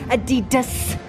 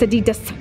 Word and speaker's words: Adidas: Do you like the Adidas pants?